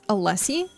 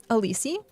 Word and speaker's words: Allessie: And then Alissi, I Okay, so apparently I mispronounce every single part uh like every single NPC because it's Allessie, but I call her Alissi.